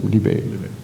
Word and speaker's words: Libet: all the things that these current, is it Libet? How do you pronounce his name? Libet.